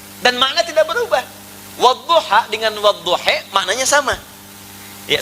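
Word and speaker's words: والضحى: Yang enggak bisa baca a pakai e imalah. Jadi wadduha bisa dibaca wadduhe ya.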